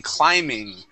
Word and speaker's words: climbing: to point out okay the first time when you read the word climbing you pronounce that B but the good part is that after that I think you realized that and you started pronouncing the word correctly saying climbing. Okay, remember that B is silent.